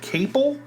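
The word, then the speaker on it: Caple: And uh this was uh directed by Steven I I think his last name is pronounced uh cable.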